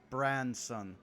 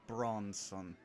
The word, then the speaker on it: Branson: And then also he's just going to be like, also, you've been saying my name wrong for like 2 days now. It is Branson, not Bronson.